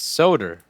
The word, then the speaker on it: solder: am I wrong yes it's Sodor like Hodor do you pronounce the